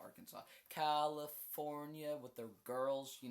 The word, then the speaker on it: Arkansas: You have to pronounce it Arkansas or AR Kansas. You pronounce it Arkansas like legally like in documents and stuff.